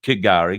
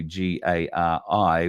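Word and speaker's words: K'gari: some confirmation um but she seems to think that it's got to be pronounced Gary so if that is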